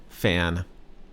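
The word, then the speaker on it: แฟน: significant other in Thai fan one syllable word fan and it means a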